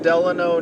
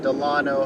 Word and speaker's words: Delano: lot of people on the road we're approaching delano now or delano however you want to pronounce it and this was the first stop